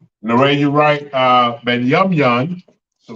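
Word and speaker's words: Binyamin: And how you say it in Hebrew, it is Benyamyan. Benyamyan.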